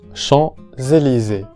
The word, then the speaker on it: Champs-Élysées: Champs-Élysées. La S se pronuncia Z, la S sonora. Les Champs-Élysées.